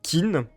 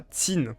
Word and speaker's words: Qin: Parce que après tout le fameux Tin que ben très souvent à Thort en France on prononce kin, bah ça se prononce comme je le prononce depuis le début, ça ressemble plus à Tin.